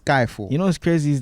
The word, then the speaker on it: Skiifall: name is spelled because there's two eyes in there there's no why it's skyfall yeah it's not skifo it's a skyfall you know what's crazy